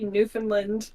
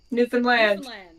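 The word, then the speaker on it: Newfoundland: the local people say how do you say it new land you hit the land hard new land new and land you land on the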